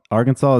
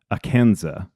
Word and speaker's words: Arkansas: Arkansas comes from the Quapaw tribe, but the French explorers called it Arkansas. You called it, dude. Yes. The French don't pronounce their S's, so Yeah. making this plural, it would be Arkansas.